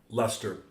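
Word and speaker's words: Leicester: you said that sh I thought for sure that'd be ler right Lester silly oh blame it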